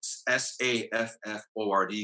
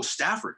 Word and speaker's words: Safford: I always got to spell it out. Safford, because sometimes people say, "Oh, Stafford." Right. No. Más o menos, pero ya. Pero no, anyway, sin la T.